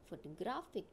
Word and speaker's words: photographic: are also we see the third one photographic in this word also the first two syllables are weak and third syllable is strong that's why I have given this face on this third syllable see this example emphasis